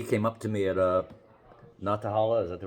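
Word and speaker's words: Nantahala: By the way, he came up to me at Natahala. Is that the right pronunciation?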